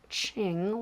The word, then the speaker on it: Qing: It's Qing, like the dynasty.